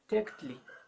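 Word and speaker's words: tēuctli: You may say, you have to say, you must say tekutli.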